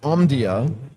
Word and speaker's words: Omdia: Um chief analyst for artificial intelligence at Omdia. Did I pronounce that right?